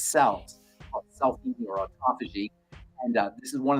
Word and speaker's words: autophagy: autophagy aagy fasi pH a f means to eat Auto means self autophagy means self-eating so essentially the the body cleans out all of its cells selfing or autophagy and this is one